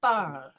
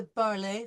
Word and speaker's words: parle: There is no a sound. It's parle. Elle parle. Okay. So don't say je parlais français. Elle parlait très bien. No, it's je parle français. Elle parle très bien l'anglais.